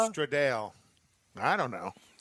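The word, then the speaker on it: Stradale: Would you like to Would you like to Stratdale? No, there's no there's no T. It's Stra Straddale.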